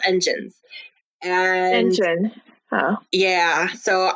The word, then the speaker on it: ENGENE: They're going to call their fandom is called Engine, Engene. So it's spelled interesting, but they're called engines.